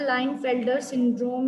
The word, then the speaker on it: Klinefelter syndrome: Particular individual as a Linefelter syndrome individual, and K is silent in that, and cause is additional copy of X chromosome, that is 47 chromosomes are there, XXY.